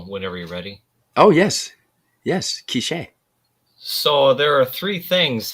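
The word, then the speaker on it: K'iche': So there's the accent is on the last letter. Okay. A department in the Western Highlands of Guatemala, but it also refers to the Quiche people, an indigenous Mayan ethnic group, and the Quiche language. And in that case, it's spelled differently. It's K apostrophe ICHE with the accent on the end there.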